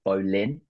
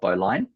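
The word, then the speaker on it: bowline: fact that it I it should be pronounced Bolin and not Bine uh one of the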